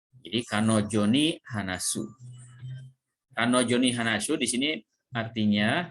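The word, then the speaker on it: 彼女: Dibacanya kanojo, gitu ya. Ini dibacanya kanojo, dia, ya. Jadi kanojo ni hanasu. Kanojo ni hanasu di sini artinya, ya, saya akan berbicara dengan dia.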